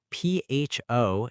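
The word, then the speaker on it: phở: PHO is pronounced. Pho, like fun.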